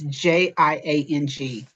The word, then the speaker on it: Jiang: I don't want to mispronounce it, but the speaker was Luana Jiang. It's Jiang.